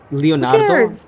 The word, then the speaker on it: Leonard: But he's not from Italy. Like Leonardo, like it's Leonard. Like let's say his name correctly.